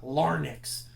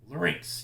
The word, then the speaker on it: larynx: again note the spelling of Link's it's not lar nix larynx kind of slur together that's how it's that's how it's pronounced alright now now we go to your